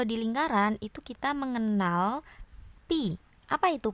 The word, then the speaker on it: pi: Yang penting kalian paham kalau ini tuh dibacanyapi tanpa ha ya Jadi bukan phi tapi Pi nah pi ini apa